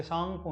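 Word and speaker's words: Tsangpo: ये सांगपो नहीं है, ये है सांगपो बोला जाता है, टी इसमें साइलेंट है।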